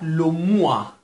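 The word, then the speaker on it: le mois: کلمه بعد لوموا. لوموا همونطور که مشاهده میفرمایید ترکیب او و ای به صورت اوا تلفظ میشه، ترکیب او و ای اوا تلفظ میشه.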